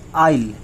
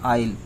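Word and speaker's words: I'll: विल होता है जैसे आइल, आई के बाद विल है ना, आइल, आइल इसको इस तरह प्रोनाउंस करते हैं आइल।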